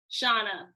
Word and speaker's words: Shana: am i pronouncing shaw is your name shauna or shayna shana china okay because different people you